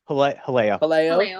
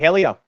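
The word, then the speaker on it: Jaleo: Haleo. Thank you. Yeah, you said it right. Haleo.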